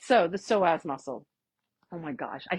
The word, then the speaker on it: psoas: They're like, psoas, psoas, psoas. No, it's just psoas.